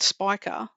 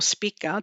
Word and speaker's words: Spica: It's based on the Lahiri system, which uses a fixed star called Spica or Spica, depend how you want to pronounce it.